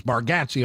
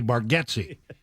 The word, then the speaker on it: Bargatze: And I mean, it looks to me, it's the way I would pronounce it, looking at the name, it's Bargatze all day long. He has only recently let it be known that maybe even he has pronounced it wrong at times, and that the actual pronunciation may be Bargatze.